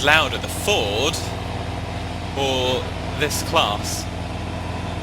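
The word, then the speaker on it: Claas: So I don't know which is louder, the Ford or this class, or Klaus, as I've been told it should be pronounced, I think.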